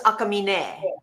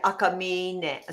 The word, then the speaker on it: Akamine: It's Akamine, but you're Akamine. like so close. But everyone, I mean, it's kind of normal that, I mean, if anyone even gets it that right, yeah, I normally say yes, but So are you yeah, saying there's a little bit of accent on the very end?